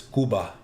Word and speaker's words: Cuba: I will try to do a roaming backpack stream as well, but that that was it's pronounced sorry, not Cuba. It's Kuba.